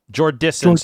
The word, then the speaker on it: Jordison: Jordison, so no N in the middle.